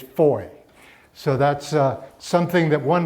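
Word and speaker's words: Fowey: it's not Foley or Foe way or anything it's four so that's something that one learns rather quickly because they're not amused when you they say it's five its that rhymes with joy and then we went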